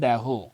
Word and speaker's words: দেহ: 30 প্রশ্ন, বিদায় এবে দেহ বিধুমুখী, উচ্চারণটা হবে দেহ, কে কার কাছে বিদায় চেয়েছেন?